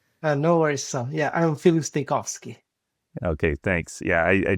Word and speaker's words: Filip Stojkovski: I don't know if you want to say it one more time so our listeners can hear their proper pronunciation. No worries. So, yeah, I'm Philosski.